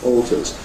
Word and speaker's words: alter: and this means that this rather changes or Alters but in the traditional pronunciation the word like alter has got a